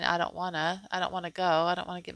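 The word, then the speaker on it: Eid al-Adha: It says, it sounds like I don't wanna. I don't wanna.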